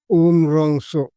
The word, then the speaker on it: Umrongso: Umrongso, hyphen, capital R-O-N-G, wrong, hyphen, S capital O, so, Umrongso. 3 syllables. There are 3 syllables in the words Umrongso. Of the words Umrongso. Umrongso बोलने वाला 3 syllables है. Rong, so. Plus Rong plus so equal to Umrongso.